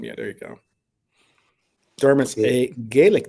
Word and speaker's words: Dermot: Dermot's Yeah. a Gaelic name, Mm-hmm.